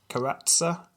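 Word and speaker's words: Keratsa: Bulgarian czar yeah well her name was carester character k-e-r-a-t-s-a karatsa I'd pronounce that craster caressa just sounds a bit rude fair enough uh well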